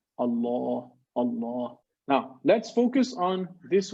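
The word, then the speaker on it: الله: dagger a knife so this allah is always strong it's not thin it's thick we don't say we say allah you see the mouth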